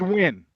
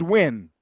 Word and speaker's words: Nguyen: It's that Vietnamese name, Nguyen. So it's pronounced Win. Nguyen. Not Nguyen, just Win. Win, not Gwen.